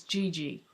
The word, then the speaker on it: Gigi: And Gigi, that's how you say it. Not Gigi and not Gigi. It's Gigi.